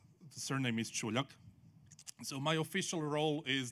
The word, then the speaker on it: Čuljak: he pronounced it correctly. The surname is Čuljak.